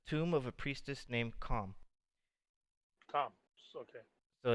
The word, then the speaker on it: Khaem: it's a tomb of a priestess named Calm. Tom. Okay. So it's spelled Khaem.